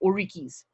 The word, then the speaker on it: Oriki: So here in Trinidad on the island, you have no orikis, orikis. Never remember. It's always misplaced the R and the K in that word.